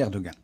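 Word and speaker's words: Erdoğan: parti akab d'Erdogan oui on dit Erdogan en turc mais nous nous allons prononcer Erdogan reste en français donc la CAP c'est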